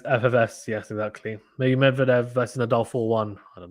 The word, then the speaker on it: Medvedev: Eugene says the stress should be on the second syllable in the Medvedev family name, not the first one as the reporters are making. Okay, so Medvedev?